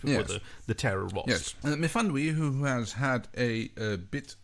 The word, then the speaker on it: Myfanwy: I guess this is a further down the lifetime of our lovely Myfwany. Is that how you pronounce it? Myfanwy. Myfanwy, yeah, I got it almost right.